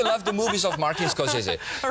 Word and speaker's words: Scorsese: What's the correct pronunciation? Scorsese. Scorsese.